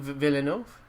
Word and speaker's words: Villeneuve: But Denis Villeneuve?